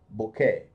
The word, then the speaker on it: bouquet: of flowers is called number one bouquet the tea is silent bouquet number two a reception